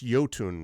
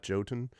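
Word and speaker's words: Jotun: it's probably oh man it's yotun right not joton uh yoton and Sun well that's how I would pronounce it it's a Norse word I canot guess yoten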